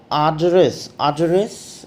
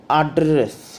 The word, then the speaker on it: address: The address in British English, it is pronounced as address, while in American it is pronounced as address.